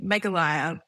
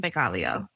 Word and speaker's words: Meghalaya: So the EP, my first EP that I put out that I have been religiously calling Meghalaya should actually be pronounced Meghalaya.